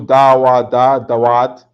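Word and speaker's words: דוד: This is how you say David in Hebrew. Dawad.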